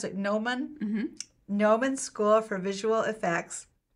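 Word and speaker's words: Gnomon: do you pronounce it nomen nomen school for visual effects in Hollywood yeah it's not gnoman even though it looks like Noah it's like no mun sorry currently a man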